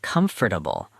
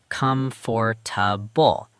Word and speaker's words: comfortable: I used to say comfortable as four full syllables. Comfortable. And the natural pronunciation across all English accents collapses it as comfortable. Three syllables.